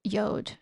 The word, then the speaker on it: yod: I mostly want to explain what a yod is, or some people say yod, which I actually think is the proper pronunciation.